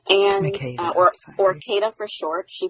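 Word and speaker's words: Makeda: Yeah, so it is Makita, and Makita, or Kata for short.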